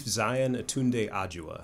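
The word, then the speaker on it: Xian aTunde Adjuah: So he goes by Chief Zion Atunde Ajua okay.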